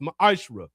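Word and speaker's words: מעשר: You can find this in numbers 18 and 21 in Malachi 3:es 8-10 means 10th in the Hebrew and is pronounced maishra.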